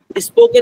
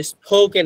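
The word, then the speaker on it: spoken: শর্টকাটে আমি একটা কথা বলি, সেটা হচ্ছে যে এস এর পরে যদি আপনি প পন তাহলে পর উচ্চারণ কখনো ফ হয় না, পই থাকে। তাহলে স্পোকেন ইংলিশ আমরা কখনো ভুলেও স্পোকেন ইংলিশ বলতে না, it should be স্পোকেন English.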